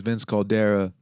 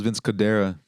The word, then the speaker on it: Vince Cadera: like yo that was Vince Cera make some that was Vince Cadera Cadera yeah make some mother sucking